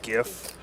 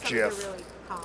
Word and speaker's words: GIF: and be sad but the kind of commonly accepted pronunciation is GIF cuz the G is an acronym for graphical but that's why he said choose the designers choose JF like the peanut butter I trying to